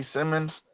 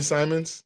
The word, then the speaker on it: Simons: Anthony Simmons. I forgot how to pronounce his first name. Anthony Simons.